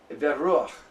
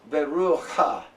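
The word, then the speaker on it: בְּרוּחַ: When you have these kind of closed vowels, you pronounce the pata before you pronounce the consonant.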